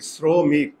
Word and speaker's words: শ্রমিক: আর মনে রাখবে, ইংরেজিতে যদি ও আসে, ও মানে উকার, আর উচ্চারণ লেখার সময় এখানে তালব বসার সঙ্গে রফলা আছে, যদি তালব বসার সঙ্গে রফলা থাকে তাহলে ওটা দন্তস্ব হয়ে যায়।